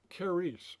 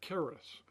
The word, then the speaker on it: charis: You would see the Greek letters to the right of it, the English equivalent of those letters, and the pronunciation, charis or charis.